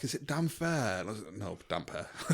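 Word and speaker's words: Damphair: the Iron Islands and people in the reading the books thought it was pronounced Dampair like cuz they were looking into it too much. It's not just damp hair cuz he's got he's got damp hair.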